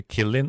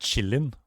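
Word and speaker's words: qilin: one horned beasts The Killing also appears in a toy of other Chinese influence cultures is pronounced Chillin not Killin Chillin was a half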